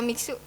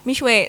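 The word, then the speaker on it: Mixue: asing banget ya teman-teman kalau miksu oke sebenarnya bacanya mishwe sebenarnya mwe teman-teman Bu Iya cuma kita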